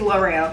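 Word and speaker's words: L'Oréal: I think it's L'Oreal, that's how you pronounce it.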